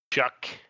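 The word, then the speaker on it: Shough: Tyler Shuck, interesting pronunciation, but we'll stay true to what it actually is being the starter for the Saints over Spencer Rattler.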